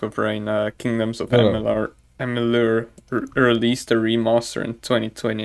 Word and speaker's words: Amalur: infatuated with Baldur's Gate at the moment, and also now Kingdoms of Amalur, or Amalur. I don't know how to say the name. It's Amalur.